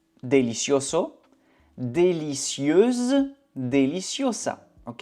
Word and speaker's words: délicieuse: acheter acheter délicieux délicieo délicieuse délicie ok il faut faire attention à la prononciation masculin Délicieux délicieux féminin. Délicieuse. Délicieuse.